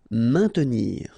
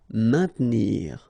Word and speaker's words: maintenir: Maintenir. So remember, A-I-N together will produce the sound un. Maintenir. Don't insist on the E. Maintenir. Indiquer.